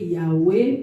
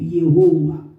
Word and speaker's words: Yahweh: Il y a aussi 4 tétagrammes de Yod, He, Vav, He, appelés, prononcés Yahweh ou Yehowa.